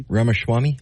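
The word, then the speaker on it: Ramaswamy: out a story on Vivic Rams Rams Swami ramaswami how ramas Swami thank you I always feel bad when I mispronounce his name and I have from the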